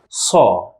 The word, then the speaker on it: ص: Letter Sa and Da. Sa, Da. Both of them, as you see, are amplified and strong. Let's now look at the first one. Letter Sa.